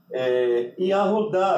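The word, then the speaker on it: יהודה: Yahudá, não é? Que é Judá, né? Se escreve Yud, Kemet Gedol, Rei, Vav, Shurk, Dalet, Patar, Rei. Ou seja, Yahudá ou Judá, não é?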